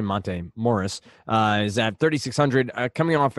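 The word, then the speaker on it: Monte Morris: at right now what about somebody like a Monta marys Morris here to pronounce that correctly montane Morris is at 3,600 coming off a very solid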